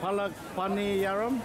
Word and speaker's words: Palak Paniyaram: So, how do you pronounce it? Palak, Paniyaram?